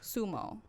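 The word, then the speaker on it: zumo: like ok so ok fumo is spelled zu mo so you and I think it's like sumo some oh yeah but they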